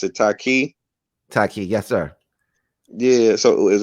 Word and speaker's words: Taaqiy: So you pronounce it Taaqiy? Taaqiy, yes, sir.